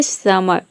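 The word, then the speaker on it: summer: हो जाएगा म और ई आर का अ प्रोनाउंस करें या फिर अ प्रोनाउंस करें यहां पे आ नहीं होगा यह होगा अ समर समर समर pronounce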